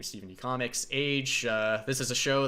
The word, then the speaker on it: Stephen D Comics: My name is, of course, stephendcomics, as I mentioned before, and it's pronounced as it sounds, Stephen D. Comics, not Stephen, not Stephen spelled with a V.